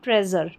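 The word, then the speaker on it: treasure: ट्रेज़र ट्रेज़ नहीं बोलेंगे ट्रेज़र ट्रेज़ ये इसका उच्चारण है। प्लेजर, मेजर और ट्रेजर।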